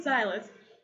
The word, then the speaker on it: Silas: Silas.